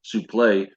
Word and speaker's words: suplex: I do love, like I said before, when he says suplex, it's suplex. Turns out that's the way you say it. Right. That's the way it's pronounced.